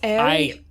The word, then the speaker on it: Erie: He's like, you got to say it right. It's Erie. Erie.